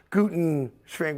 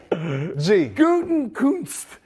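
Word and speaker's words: Gutekunst: And I always pronounce the guy's name wrong because it's a tough name to pronounce. Guten Shrink, whatever, right? I can't say, I got pie. It's Guten Kunst.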